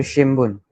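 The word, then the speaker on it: 新聞: फिर शिम्बुन.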